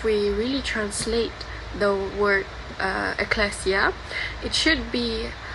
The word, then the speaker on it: ecclesia: It is pronounced as ecclesia, and the original meaning of church is it is a gathering of a community or people for religion purposes.